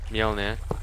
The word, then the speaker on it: Mjolnir: How do you pronounce that? Mjolnir.